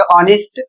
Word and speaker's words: honest: हैं और इसी कारण यहां पर एच का उच्चारण नहीं किया जाएगा।